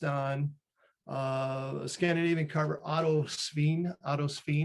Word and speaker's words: Sveen: So this troll is based on a Scandinavian carver, Otto Sveen. Well, it's S-V-E-E-N. And if you say it wrong, it means like pig, apparently, but I'm sure he wasn't like that.